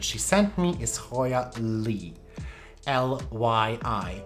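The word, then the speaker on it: lyi: sent me, is Hoya Lee. L-Y-I. I think it's pronounced Lee. I heard people pronounce it Lie, but I'm not sure that's the correct pronunciation.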